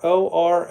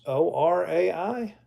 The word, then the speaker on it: Orai: Discover OI. A AI consulting with clarity. I don't think that's what you're saying, Bruce. O R AI.